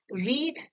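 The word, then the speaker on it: read: setting यहां पर देखिए रीड ये स्पेलिंग तीनों की सेम है रीड आरई एडी आरई एडी आरई एडी लेकिन रीड का पास्ट टेंस है रेड स्पेलिंग सेम है लेकिन इसको हम प्रोनाउंस करेंगे रेड रीड रेड रेड रीडिंग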